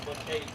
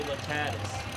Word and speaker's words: Lacates: It's pronounced Lacates. Most announcers say Lacatis.